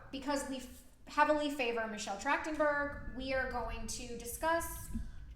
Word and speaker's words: Trachtenberg: is the passing of Michelle trenburg it's tractenberg oh jeez I said it wrong I've got you Michelle